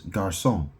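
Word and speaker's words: garçon: Boy is I think Yeah, boy is garson. It's spelled I think G A R C O N.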